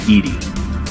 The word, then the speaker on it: EDI: have a specific inquiry why are your name Edie Edie is the phonetic pronunciation of EBI that is an acronym for